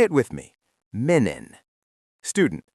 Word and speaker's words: Menen: Menon.